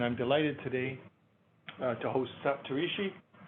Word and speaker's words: Saptarishi: Health Research, and I'm delighted today to host Saptarishi Bandopadhyay. Solid effort. Solid effort. Yeah, it was good. No, it was good. Yeah. What's the correct pronunciation? Bandopadhyay. Bandopadhyay. Yeah. Okay. Saptarishi Bandopadhyay.